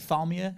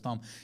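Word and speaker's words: Tharmr: Like because Barnabas Thom, who his name's spelled like Thamia, and that's a way cooler name, Barnabas Thamia, but it's Barnabas Thom.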